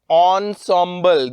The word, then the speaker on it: ensemble: now pronounce it Ensemble you will call it Ensemble the correct pronunciation is Ensemble Ensemble means the thing the